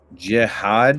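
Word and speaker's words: Jihaad: Jiad, is that how you pronounce it?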